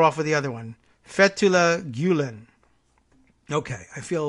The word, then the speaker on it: Fethullah: Fethullah, I guess, would be the emphasis on the first syllable.